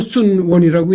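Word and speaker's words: 孫文: 한문 발음으로는 손문인데이 손문을 중국 발음으로는 순원이라고 이제 그렇게 발음하는 거죠.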